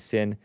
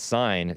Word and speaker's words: Seine: The River Seine. S-E-I-N-E. But some people pronounce it sin, and I was calling it sign, so what a mess.